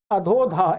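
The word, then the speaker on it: अधोऽधः: तो ये, इसका कोई उच्चारण नहीं करना आपको, बस अधोधा ऐसे बोलना है, नीचे नीचे।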